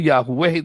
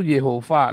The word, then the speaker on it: Jehova: yo menjauhi Natasha WC salah ngomong Yahweh salah yang betul Jehova nanti diajari dipakai evangelis